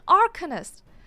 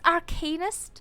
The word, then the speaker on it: Arcanist: wait it's called Arcanist I've been saying archinist is this where I find out I've been mispronouncing every single word in this game wrong it's Arcanist if that makes sense it's arcane it's just no one's